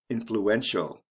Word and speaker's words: influential: add i a l influential notice if with with this word there's also a stress change for example influence the stresses on the first syllable influential the stress comes right before the ending cause causal notice we're